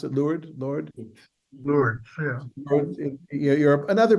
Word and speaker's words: Lourdes: How do you pronounce it? Lourdes, Yeah.